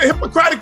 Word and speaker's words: Hippocratic: What Don't do happened to the Hippocratic Oath? Is that what it's called? Am I saying it right? it. Yeah, it's Hippocratic. Mhm.